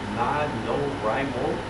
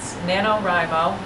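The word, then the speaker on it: NaNoWriMo: Camp Nanoraimo. I'm mispronouncing that badly, I know. I'm sorry? It's Nanoraimo, and it's National Novel Writing Month.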